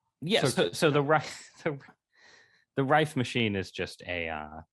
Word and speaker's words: Rife: Is it the Rife Machine?